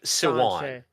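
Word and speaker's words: Siuan Sanche: That's how you're supposed to pronounce that? yeah, Yeah. Swan, Sanchi, Siwan. yeah. Siwan. Sanche.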